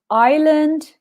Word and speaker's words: island: a river a desert island Canyon Lake mountains and cliffs so some really impulsive pronunciation that guys first of all I and the S is silent because I think quite